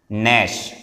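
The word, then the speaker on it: gnash: नैश, इसमें जी जो होता है ये साइलेंट होता है, जी साइलेंट लिखेंगे लेकिन जी है।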